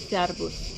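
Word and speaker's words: szervusz: Kam thank you and hello hello in Hungarian is servus like servus servus service I already forgot thank que voilà donc thank you gr italian Thank you.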